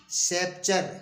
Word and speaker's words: sceptre: इसी तरह से SCEPTRE, सेप्चर।